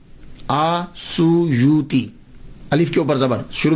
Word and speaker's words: السیوطی: جو السیوط ہے نا، اس کے تلفظ میں 2 باتیں قابل غور ہیں۔ پہلی بات تو یہ ہے کہ اکثر الف چھوڑ جاتے ہیں، سیوطی کے علامہ جلال